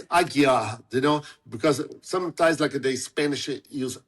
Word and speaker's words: Aguiar: But in my last name, also they pronounce with L, Aguilar instead of Aguiar. And sometimes I just want to make sure that there's no L. It's just Aguiar, not Aguilar, because that's what really not